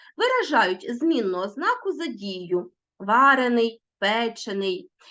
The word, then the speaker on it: варений: виражають постійні ознаки і можуть змінювати наголос варений печений тобто в таких дієприкметниках які е-е стали прикметниками в основному наголос переходить на закінчення або ж на суфікс а в дієприкметниках наголос залишається на корені Отож дивимося прикметники утворені